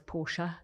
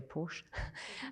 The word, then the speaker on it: Porsche: of Porsche was saying, which I think they pronounce Porsche in Italy, but UK we say Porsche, said that, quote, fans